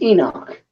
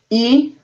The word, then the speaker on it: Enoch: My name is Enoch. I'm sorry. Enoch. Enoch. Okay. How do you spell that? What? How do you spell that? E-N-O-C-H.